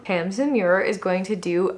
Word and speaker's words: Tamsin: It's Tamsin Muir, not Tasman Muir.